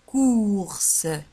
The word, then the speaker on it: courses: ولاحظوا على أن كورس تكتب بسي او يو ار وتنطق كورس، لي كورس.